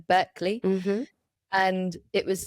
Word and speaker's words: Berkeley: There's a wonderful research study by University of California, but I always say it wrong. It's not Berkeley, but Berkeley.